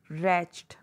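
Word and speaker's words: wretched: फूटा ही होता है डब्लू आर ई टी सी एच ई डी रेच्ड यहां पर डब् साइलेंट है शबी गंदा डर्टी गंदा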